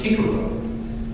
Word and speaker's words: Cicero: His name Cicero, or the scholars tell us might have been pronounced Cicero, actually meant chickpea, apparently because one of his ancestors had a nose in that shape.